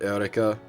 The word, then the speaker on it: Eureka: It's Eureka is her name. They pronounce it Eureka. because Japanese pronunciation, so I always end up pronouncing it Eureka, but it's not Erica, it's Eureka. Like Eureka.